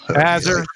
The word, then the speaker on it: Azurethi: How do you pronounce that? Azure or Az. Azure?